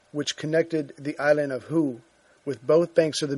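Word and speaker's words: Houx: 5 lock, which connected the island of Heux with both banks of the Muse, just over 3 miles north of Dinant, was still intact. And Heux is spelled H-O-U-X, in case I'm saying it wrong.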